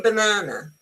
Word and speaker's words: banana: Um uh for example, if I say banana, you see the first a is unstressed.